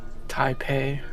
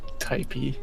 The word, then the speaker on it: Taipei: take place in China Taipei I pay there we go hi not typey typey whatever close enough